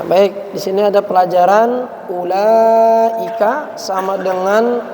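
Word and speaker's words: أولئك: Ya, baik, di sini ada pelajaran ulaika sama dengan ulaika. Jadi dia bacanya sama tapi tulisannya beda.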